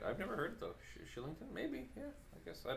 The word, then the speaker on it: Kylington: sorry say that again kylington is pronounced shillington ashley for real yeah